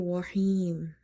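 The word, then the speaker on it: الرحيم: Now the last letter we have to make it silent because we are pausing. So before the silent letters, if the second last letter is your madda letter, then instead of one alif you will stretch up to 3 alif by applying the rule of madde arid.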